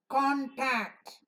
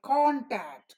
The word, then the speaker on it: contact: the first syllable so when the accent falls on this one we call contact Convoy concave constant and console and when accent does not fall on it it falls on the second syllable you say control condition continue convey communicate so that